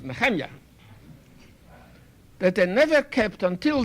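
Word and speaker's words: נחמיה: in the book of Nehemiah I know how you pronounce him in your bed English I mean in bed Hebrew English perhaps good but it's not correct his name was Nahanni that I never kept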